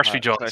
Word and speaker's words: Aarsvijand: Yeah, Did I aarsvijand, say it like you right?